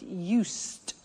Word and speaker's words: used: Listen to the pronunciation. I said used with a T sound. Used, not used or used. Used. That's very important to distinguish it from the other verb, use.